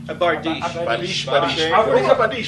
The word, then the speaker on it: bardiche: sides and- Badish. A bardiche.